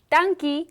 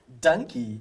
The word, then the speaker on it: Dankie: Sure. Dankie means thank you in Afrikaans. Donkey, did I say it right? Perfect.